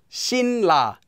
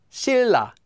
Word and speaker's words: 신라: Anytime it comes before or after the consonant 니은, that consonant 니은 will also become pronounced like a 릴.